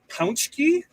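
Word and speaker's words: Pączki: You should say Pounchki, which is how the word is pronounced.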